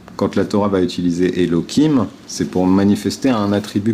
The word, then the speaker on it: Elohim: le mot ho Kim on le prononce Elokim même si on le lit Elohim quand on va pas faire